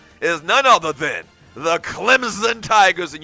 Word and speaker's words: Clemson: And the biggest game this weekend in college football is none other than the Clemson Tigers, and you do pronounce Clemson with a Z.